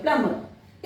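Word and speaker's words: plumber: प्लम्बर, लोग बोलते हैं प्लम्बर, बिल्कुल गलत है। यहां पर एम और बी है, दैट्स वाई यहां पर बी साइलेंट होगा, यहां पर भी साइलेंट, यहां भी प्रोनाउंस नहीं होगा, यहां भी नहीं होगा और यहां भी नहीं होगा, प्लम्बर।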